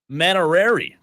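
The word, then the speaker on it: Mainieri: his last name correctly Paul maner is the way I'm going to say it that's the way I've heard it pronounced Paul maner you know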